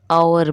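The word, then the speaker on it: hour: walk में L silent आवर में H silent clear तो जो साइलेंट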